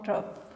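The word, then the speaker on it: trough: ठीक है, जो वेव्स का ये वाला पार्ट होता है इसको हम क्रस्ट, और जो ये वाला पार्ट होता है इसको हम ट्रफ।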